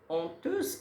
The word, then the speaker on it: honteuse: honteuse كنطق H ولكن كنصرتها.